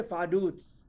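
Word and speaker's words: Vaduz: बेटा इसको लिखते फाडूज। VARDUZ है। बोलते कैसे? फाडूट्स।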